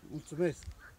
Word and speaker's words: Mulțumesc: Mulțumesc.